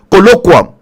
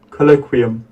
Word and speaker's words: colloquium: is you hear that colloquium okay what is the pronunciation listen colloquium colloquium here this colloquium okay all right okay